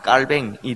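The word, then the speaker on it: Calvin: 합니다 이 사람은 올해 프랑스 사람이니까 프랑스 어 발음 그대로 면장 깔 뱅이 등장을 하는 겁니다 이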